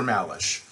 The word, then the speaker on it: Malesh: syllabus and you're wondering how do i pronounce that don't worry about it it's just dr malash uh this is a